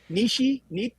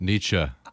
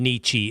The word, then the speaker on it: Nietzsche: I've never really known how to pronounce it. I know it. Nishi, something like that. Nietzsche. I think you can say Nietzsche.